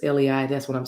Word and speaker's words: lei: go around the neck is that pronounced lay i believe it is lei that's what i'm saying